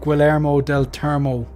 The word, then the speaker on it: Guillermo del Toro: It's like kind of like Guillermo del Toro. That's the correct pronunciation of that, by the way, lads.